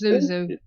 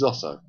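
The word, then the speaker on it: Zoso: I thought it was Zuzu. It's Zosso. Well, he's always pronounced it as Zosso.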